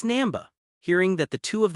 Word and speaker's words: Namba: Namba said, "Professor Zebo." Then Ash followed the directions given to him by the trio and headed for Team Rocket's underwater base. It's not Zebo, it's Namba.